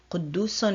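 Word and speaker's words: قدوس: So here in the word Quddus, you can hear the S sound at the end of the word, and that's the letter Sin.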